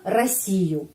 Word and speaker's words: Россию: Ya, penekanannya di sini. Karena itu huruf O ini pengucapannya A. Россию. A. Bukan Россию. Bukan. Karena penekanan di sini. Huruf O tidak mendapat penekanan. Karena itu pengucapannya A.